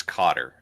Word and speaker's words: Qatar: Believe it or not, it's Cotter.